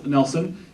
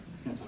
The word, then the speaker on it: Hansen: I've been saying it wrong myself the whole time, I apologize. Andy will fix that in post, I'm sure. Don't worry, Andy, you don't have to. Thomas Nelson, it's actually Hansen.